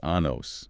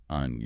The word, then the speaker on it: años: And the pharmacist asking about kids' anos, not años.